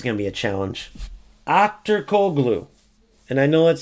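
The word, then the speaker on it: Aktürkoğlu: Akturkoglu. And I know that's how you pronounce in Turkish.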